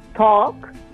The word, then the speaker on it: talk: diremmo walk, invece walk, talk, che sarebbe il verbo dialogare, come abbiamo detto nella scorsa puntata, talk to me, parlami, dialoga con me, non si dice la L, sì, la vediamo, insomma,